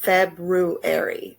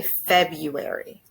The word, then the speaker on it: February: so for example the the month February is felt like this February but many Americans say February so if you were